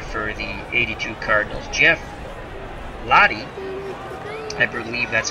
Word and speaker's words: Lahti: And a new pitcher for the 82 Cardinals, Jeff Lahti. I believe that's how you pronounce his name. L-A-H-T-I, Lahti.